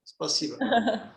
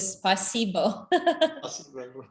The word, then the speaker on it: спасибо: Spasiba. How? What? Emily? No, Peter? Yeah, but with accurate accent is better. Really? But you don't have accent with spasibo. Spasiba.